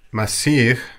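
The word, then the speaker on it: مسيح: And the Christ is pronounced Masih in Arabic, Mshiha in Aramaic.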